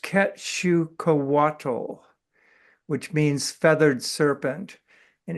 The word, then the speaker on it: Quetzalcoatl: It's pronounced Quetzalcoatl, which means feathered serpent.